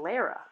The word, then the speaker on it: Lara: okay so that's mr lara's attorney uh and the supreme court pronounces it lara and so even though his mr lara's attorney says laura there i'm gonna continue to say lara and then you'll hear